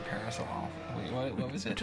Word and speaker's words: Parasaurolophus: Took us a long time to realize that it's pronounced Parasaurolophus. For the longest time. It's not Parasaurolophus? No. Oh, wow. Yeah. Completely wrong. Yeah. Could have gone the rest of my life saying it horribly wrong.